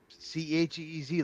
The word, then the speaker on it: Cheez: Cheez, like cheese, it's spelled like that.